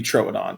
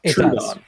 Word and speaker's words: Troodon: I think the diuresis indicates it should be trodon and not Tron really because it indicates the start of a syllable when there isn't a consonant separating two